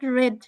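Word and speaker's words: read: এটা রিড রেড রেড, এটা বানান একই কিন্তু উচ্চারণটা রেড হবে।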